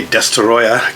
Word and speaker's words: Destoroyah: I don't know, is that an anglicized version of the word destroyer? Because that's exactly what it sounds like. So why don't they spell it destroyer? Because in the English dub of this movie, that's actually how they say it.